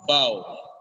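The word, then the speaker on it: bough: ghost F in cough it is not at all pronounced in Bow it's completely silent in Bow this happens in English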